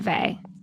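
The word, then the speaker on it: Weil: Is it Simone V? That's the way I That's how I've always pronounced it too.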